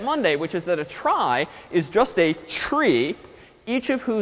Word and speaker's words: trie: But first, let's introduce a similarly named, if oddly named, structure called a try. So it's pronounced try.